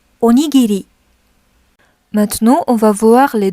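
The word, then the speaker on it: おにぎり: Pour la colonne R, en fait, le son de R n'existe pas en japonais. Il est donc remplacé par le son L, même si certains mots sont écrits avec un R. Donc, essayons de prononcer ensemble. La, li, li, le, les, lo. Donc imaginons que comme si c'était écrit avec un L.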